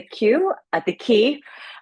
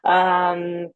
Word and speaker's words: Quay: Katie is on holidays with her family, and I am joining you from Westminster, BC, in at the Quay, Quay, pronounced key.